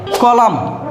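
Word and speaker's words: column: সলেম that means একাগ্রতা কলাম একসাথে এম এন আছে এন এর উচ্চারণ হয়নি কলাম মিনস সংবাদপত্রের কলাম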